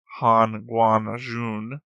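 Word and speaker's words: Hanguang-jun: Hongyang Jun is like Han Guan Jun.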